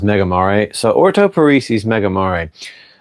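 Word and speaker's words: Megamare: he did not like Mega Mar. I think he I think some people pronounce it megaare, but I've been told it's pronounced Mega Mari.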